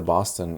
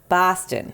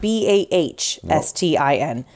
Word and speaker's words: Boston: don't live in Boston it's not Boston it's not bah nest ein don't write it like that don't say it like that it's B aw as T is STI n Boston not Boston Boston Boston like Austin Powers like an Austin Powers children do you say Austin Texas no you don't you